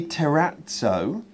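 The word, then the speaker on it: terrazzo: she i would say terratso as the word piazza in italian is pronounced piazza oh okay so she's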